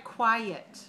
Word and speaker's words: quiet: How many syllables are in quiet? Quiet. 2. Okay, and it's spelled with a Q, Q-U-I, W-E-T. It sounds like a k, k. Sounds like the letter K and the letter W, w, k, w, quiet.